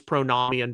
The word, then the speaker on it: pronomian: You probably hear the pronunciation pronomian, but I use pronomian because Bill Patrick in our Greek classes said it was nomos with a short O sound.